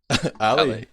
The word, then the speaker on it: alle: alle? alle. Like Ali, the English Ali. Okay. I can get behind that. It's easy. Yeah? I don't know. I think the Swedish way would be alle.